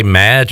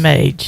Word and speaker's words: Mage: And you continue to say Madge. I'm pretty sure they pronounced it Mage on the broadcast. It's Mage. Yeah. There's no D in there.